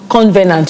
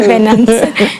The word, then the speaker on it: covenant: Because I always heard convenant, so I always thought you had to spell it with the N. Yeah, I always spelled it with the N. Covenant. So it's covenant.